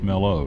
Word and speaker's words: Mellow Mushroom: Or as my buddy says, can't say it right, Meller. I said, no, it's not Meller, it's Mellow.